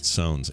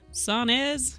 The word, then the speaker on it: Sones: Sones. S-O-N-E-S, like Jones with an S.